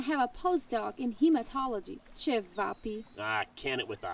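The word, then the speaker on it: ćevapi: Can it, Kabapi Nose? It's pronounced Chevapi.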